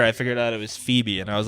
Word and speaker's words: Phoebe: And then like a year later I figured out it was Phoebe, and I was like, I am an idiot.